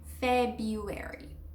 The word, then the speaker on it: February: They try to say February. February. I know, crazy. Basically, the R becomes silent. And so, like I said, it's almost like Feb, you, airy. February.